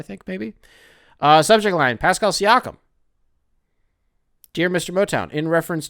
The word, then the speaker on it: Siakam: Pascal Siakam?